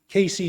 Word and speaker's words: KC: Casey tells me that they think of the 2 syllables as equally emphasized. I confess that when I try to say it with equal emphasis, it usually comes out sounding a little more one way or the other to me, but the point is, that's okay.